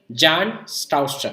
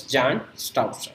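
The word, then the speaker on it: Bjarne Stroustrup: It was actually introduced in 1985 by a talented computer scientist called Jan Stouster. We can note B is silent here. So it's Jan Stouster in 1985.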